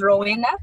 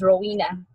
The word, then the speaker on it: Rowena: my name is Ravina I say that as roll enough but it's pronounced as Rowena yes so we have